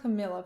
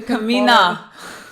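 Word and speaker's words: Camina: think I would say her name is not Camilla first you need to know somebody's name so you Kamina you can follow them I don't know why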